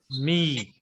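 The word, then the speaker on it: מי: Me. Me. Yeah. No. Me. Don't pronounce Y. That Okay. Okay. yod is Me. silent. So it is Okay. long vowel, but don't pronounce Y.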